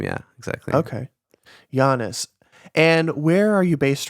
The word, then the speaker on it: Yiannis: Yeah, it's pronounced Yiannis. Yiannis.